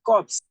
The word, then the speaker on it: corpse: But you have a word that has this, but there's E at the end, you pronounce it corpse, dead body.